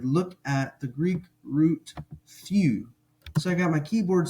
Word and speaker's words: θυ: Theta Upsilon few now a lot of people have trouble pronouncing that EU as in few but here's one trick to maybe help with that when you say the English word cheese like when you're taking a picture